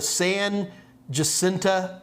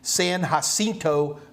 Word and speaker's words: San Jacinto: we have a monument called the san jacinta or i guess the proper spanish pronunciation would be san jacinto monument if you get a